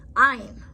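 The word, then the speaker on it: עין: Ayin. Ayin is a silent, like the letter Aleph, depending on it being a name or its position in a word.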